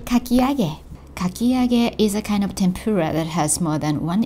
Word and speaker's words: 天ぷら: And be careful with the pronunciation of the word tempura. It's tempura in English, but it's pronounced as tempura, tempura in Japanese. It starts low, then moves high on N.